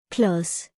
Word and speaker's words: Klods: The D sound is quiet when it is paired by consonant letters like S or T.